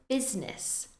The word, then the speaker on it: business: camera camera next is business the spelling makes it look like it should be busyness but we in fact say business business next we